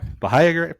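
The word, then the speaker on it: Bahia: proper pronunciation of that I think it's Baha B okay yeah bahaya perfect so obviously I'm in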